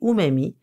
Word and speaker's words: umami: Ce drôle de nom, qui s'écrit umami, qui est à prononcer umami, se traduit littéralement du japonais par « goût délicieux ».